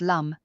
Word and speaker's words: lam: Lighting a yellow or brown candle and reciting the mantra lamb pronounced lum can help stabilize his root chakra.